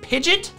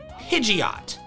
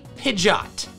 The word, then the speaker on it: Pidgeot: Pidgeot's, apparently it's pronounced Pidget? Pidget. What, if it starts spinning, is it a Pidget spinner? No one has ever pronounced this Pokemon Pidget. It has always been Pidgeot. Or maybe Pidgeot.